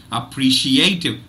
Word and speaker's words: appreciative: is the primary stress the first syllable gets a secondary stress the one two three fourth syllable gets the primary stress but look at this